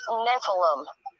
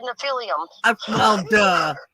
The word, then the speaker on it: Nephilim: okay it's cristola guys it's pronounced nephilim in that what i said no you said nephelium close enough his nephilim is where